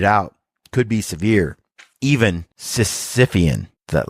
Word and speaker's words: Sisyphean: Sisyphean, that's how it's said, denoting or related to a task that can never be completed.